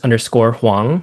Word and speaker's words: Hwang: Yeah, the best place for me, I'm active on Instagram at hang. My last name is spelled hw.